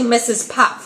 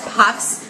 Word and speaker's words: Mrs Puff: name wrong it's actually Mrs Puff without the S on the end of Pops because they said it as pups but it's actually Mrs Puff without the without that